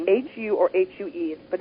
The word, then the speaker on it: HU: It's H-U or H-U-E, but it's pronounced that way.